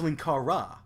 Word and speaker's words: Linkara: No, that's Linkara.